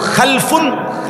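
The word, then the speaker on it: خَلْفٌ: মাঝখানে একটা লাম আছে। এই লামটার মধ্যে যদি সাকিন হয় তাইলে হল খালফুন। আর যদি লামের মধ্যে জবর হয় তাহলে হল খালাফুন।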